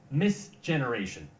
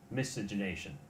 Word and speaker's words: miscegenation: the word to the word that is misces misgeneration let me try that again misgenation miscegenation miscegenation say with me miscegenation something all right well he eventually got around to pronouncing the word misinternation uh the story basically was the recognition of